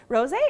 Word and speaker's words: rosé: Rosé is big right now. It's been big for a little bit because, I mean, it rhymes with all day, so rosé all day.